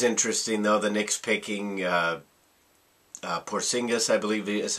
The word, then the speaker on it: Porzingis: It was interesting, though, the Knicks picking Porzingis, I believe is how you pronounce his name, and basically he almost got booed out of the building.